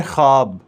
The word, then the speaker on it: ख्वाब: होता ख्वाब होता है यह लिखा तो ख्वाब जाता है मगर वह जो है उसकी आवाज नहीं होती उसके साथ नहीं होते उसकी आवाज नहीं निकालनी साइलेंट करना है इसको पढ़ना है ख्वाब ख्वाब ख्वाब इस तरह